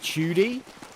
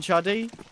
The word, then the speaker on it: Chudy: Friend of ours in chat, Mazior, says Judy's nick is pronounced like Houdini, N-I, and it's meaning slim in Polish, and it's funny. So does he mean like Chudy rather than Chuddy? If it's like Houdini?